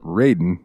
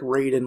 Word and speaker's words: Raiden: tomato I'll never know in the Sega Genesis version of Mortal Kombat they spelled it Raiden like r a y Den in a couple of the games to help with the pronunciation um ryen this dick